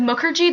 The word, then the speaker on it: Mukherjee: This is Representative Mukherjee. That's Muk like book, like her, and G like tea.